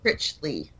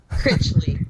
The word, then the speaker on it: Critchley: It's Robert Richley. Robert One more time. It's Critchley.